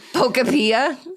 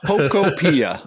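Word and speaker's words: Pokopia: I mean, phonetically spelled out. Phonetically spelled out. Pocoia right there. Look at that. Zach, can we can we get a tiebreaker on this? P O K O P I A.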